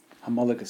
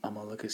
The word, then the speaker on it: homologous: Or should I say it correctly, an homologous series, because it's got a silent H.